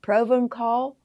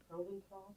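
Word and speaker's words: Provençal: Proven call. Proven call. Um yeah, we're pronouncing it the way it looks.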